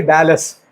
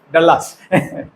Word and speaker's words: Dallas: a l l in America how will you pronounce it is actually Dallas okay but I have seen people pronouncing it as delas delas as people in kotam say delas okay